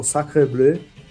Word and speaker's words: Sacre Bleu: Eu vou falar, inclusive, com a pronúncia correta, porque, sabe, as pessoas não falam francês e isso tá me incomodando. Brincadeiras à parte, o módulo é o Sacre Bleu, que nós vamos lançar,